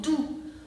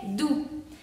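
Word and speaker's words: doux: Porque quedamos que OU se pronuncia U, aquí está, y la X final no se pronuncia, entonces tenemos du. Du significa suave, así como un animal, suavecito, un peluche, du.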